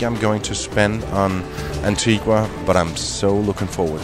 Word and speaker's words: Antigua: again that was before I learned that it's pronounced Antigua and not Antigua which is what you would think when you